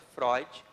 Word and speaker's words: Freud: pessoa e obrigado sigmon froid inscreve-se freud porém se pronuncia floyd ele era um psicanalista